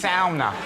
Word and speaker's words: sauna: And I was like, maybe it is sauna. We've all just been saying sauna, and it's sauna. Maybe she meant sonar. Were they in a submarine? No? Sauna. Well, that is the Scandinavian pronunciation of it, but I always think